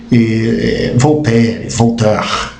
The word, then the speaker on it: Voltaire: Agora, olha que interessante, o mais interessante é esse de voltar, né? Voltaire, né? Se pronuncia assim.